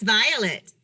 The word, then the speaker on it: Violette: And am I pronouncing the name correctly? Yes, Violet.